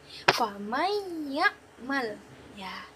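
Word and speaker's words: فَمَنْ يَعْمَلْ: ada The Comment famaiyakmal faman ya'mal tulisannya situ faman ya'mal maka kita membacanya menjadi famaiyakmal itulah dia nun mati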